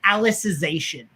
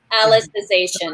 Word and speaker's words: Alicization: at the beginning but it's like alice like the character alice in the show so alicization alicization okay oh it is